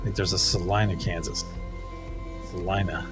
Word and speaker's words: Salina: Salina is at least the way we pronounce it here.